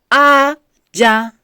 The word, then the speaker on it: Aja: in them a a a is sand sand Aja a a j a a a j sacrifice